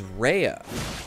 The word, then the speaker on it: Raya: in the Academy of Raya lucaria which I've been pronouncing Raya but I think it said in-game as Reya Raya lucaria so I'm going to